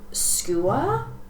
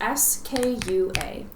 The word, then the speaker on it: skua: Like, when I say Seahawk, I could either be talking about a skua, I think is how you say it, or an osprey.